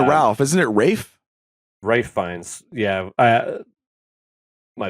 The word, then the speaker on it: Ralph: hold on you keep saying Ralph isn't it Rafe Rafe finds yeah I my bad no I'm just I'm no it is Rafe and then like George call Miguel all the